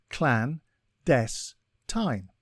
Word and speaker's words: clandestine: a time today's word is clandestine it is pronounced Clan death time and is spelled CLA nde s t i